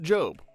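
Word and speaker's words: GOB: Lucille, failed magician brother go O, which is pronounced Job, something we definitely knew before the last video and absolutely didn't butcher while half the comment section lost their minds.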